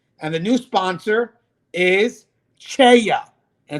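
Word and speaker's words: CEIA: And the new sponsor is Cheya. And it's spelled C-E-I-A.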